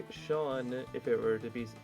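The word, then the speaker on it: Seán: Oh yeah, so Sean is spelled S-E-A-N. The E isn't actually there to it's not there to be pronounced. It's there to indicate that the S sound is pronounced like sh instead of sa. Because if it was just S-A-N, it would be pronounced son.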